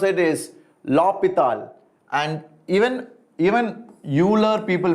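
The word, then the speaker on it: L'Hôpital: will have a blast of a time it is spelled as lopital exactly but indians sometimes we call it as l hospital so i am not very concerned about it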